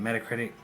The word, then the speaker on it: Metacritic: That's how you say it, Metacritic.